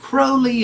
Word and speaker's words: Crowley: Crowley um aliser Crowley actually he said he was asked how do you say your name says well you see it crowly if you think me holy and crowy if you